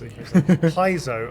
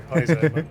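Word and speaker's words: Paizo: Peso uh Peso Peso I always pronounce Piso I'm so sorry Paiso misprononunciation um but also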